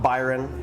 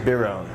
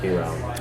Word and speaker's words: Biron: And it's not Byron, like Lord Byron, as I thought for ages. Yeah. It's Biron.